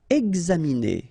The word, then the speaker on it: examiner: Examiner. Okay, it's interesting here because you've got this X and then you pronounce it X.